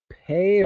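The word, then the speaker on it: Pae: Just as Pei or Pi, I'm not sure how to pronounce his name. They pronounce his name Pi because it's more fun. P-A-E, right? I'll call him Pi.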